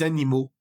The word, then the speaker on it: animaux: Y en plural, unos animales, vamos a decir des animaux, des animaux. Entonces la AL cambia a AUX y la AUX en español, en francés se pronuncia U.